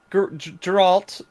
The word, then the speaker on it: Geralt: So they've cast Geralt. Soft G.